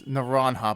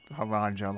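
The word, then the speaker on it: Naranja: Prima by the way I realized before I've been pronouncing the name of our Academy wrong this nanha because it's Spanish and not haranga like I probably said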